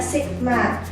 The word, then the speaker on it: sigma: Kayak gini simbolnya bacanya sigma.